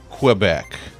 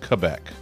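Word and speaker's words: Québec: apartment that is Canada, typically we've pronounced it Quebec. That's how people say it. But that's, I learned that that's not how it's pronounced. It's pronounced Quebec. See?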